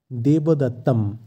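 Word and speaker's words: দেবদত্তম্: বা শ্রীকৃষ্ণ এরপর আছে দেবদত্তম আমরা একটু আগেই দেখলাম কোন শব্দের শেষে অনস্বর থাকলে সংস্কৃতে সেই অনস্বরের জায়গায় ম এর উচ্চারণ হয় তাই এক্ষেত্রে শব্দটির উচ্চারণ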